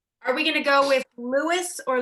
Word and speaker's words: Louis: or Jeffrey Jeffrey are we gonna go with Louis or Louie I don't know if his name has never pronounced Oh Louis if we're going to sighs much to stick